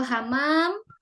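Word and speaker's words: حمام: Kalau hamam dia tidak pakai tasjid jadi merpati.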